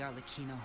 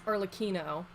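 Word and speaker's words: Arlecchino: homeland I've been pronouncing it wrong this whole time it's arlaquino I thought the two C's in Italian was it was a CH sound though orphans the only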